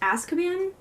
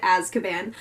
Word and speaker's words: Azkaban: i was saying the title rum that it's pronounced Azkaban but then it sounds like I'm saying about word and it also has a Z so I'm just going to continue pronouncing it adds cabanne so i finally got Harry Potter and the